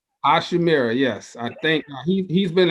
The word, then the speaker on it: Hachimura: I just can't pronounce his name. Hachimura. Hachimura, yes.